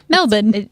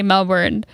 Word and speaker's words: Melbourne: Can I just say you sounded so Australian when you said Melbourne? Melbourne. That's how you pronounce it. No, I know, but people here say Melbourne.